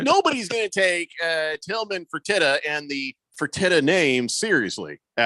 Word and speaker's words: Fertitta: That's Now how you I know pronounce that Tillman Fertitta.